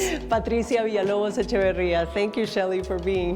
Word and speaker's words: Patricia Villalobos Echeverría: Pronounce it for me please. - (laughs) Patricia Villalobos Echeverria.